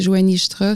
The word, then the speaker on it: Johany Jutras: Puis Instagram, c'est Joanie Jutra. Ça s'écrit Johany, Jutra avec un S.